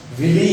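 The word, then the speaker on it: villi: उंगली की जो समान संरचनाएं होती हैं उन्हें हम विली या विलाई कहते हैं। कहीं कहीं पर विली लिखा होता है, इसकी स्पेलिंग है VLLI, कहीं इनको विलाई भी कहते हैं।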